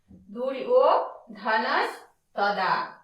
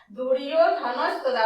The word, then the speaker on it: দুর্যোধনস্তদা: আমি আগের ভিডিওতেও বলেছি অন্তস্থ জয়ের উচ্চারণ সংস্কৃতে ইও, আর যেহেতু ওকার আছে তাহলে হয়ে যাবে ইও।